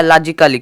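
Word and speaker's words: logically: उसके बाद double L हु है तो आया लॉजिकली क्या लॉजिकली लॉजिकली लॉजिकली लॉजिकली देखो यहां पे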